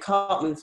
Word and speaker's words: Karpman: it more you just recommend basically yeah and cartman's triangle is spelt with a k just that's what came